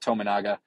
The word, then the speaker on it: Tominaga: is their leading scorer I have heard a lot of announcers try and pronounce his name and they seem to change it just about every time we're going to go with tominaga let's talk a little